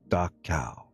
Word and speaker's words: Dachau: It's pronounced like Dachau.